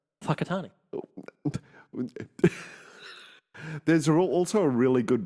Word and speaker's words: Whakatane: It's spelled like Wakatani, but it's pronounced Whakatani.